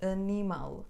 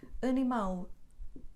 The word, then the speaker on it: animal: sílabas duas duas aqui segundo a regra o acento deveria recair na penúltima mas não dizemos animal o quintal ou funil não porque acabam com ele o acento recai na última sílaba portanto dizemos animal quintal funil da Claro e